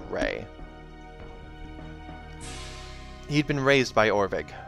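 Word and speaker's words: Rhea: had been a healer i'm going to pronounce that right ray r-h-e-a i'm gonna go with rey he'd been raised by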